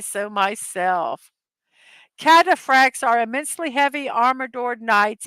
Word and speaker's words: Cataphracts: Cataphracts. Cataphracts. Note that H is not pronounced.